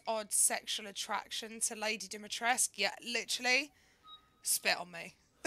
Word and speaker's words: Dimitrescu: The very Dimitrescu. Same. See, I told you that's how it's pronounced.